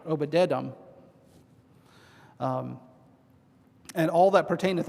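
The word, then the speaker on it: Obed-edom: blessed the house of Oedom." Wait, Oedum, I skipped a syllable there. Obedum.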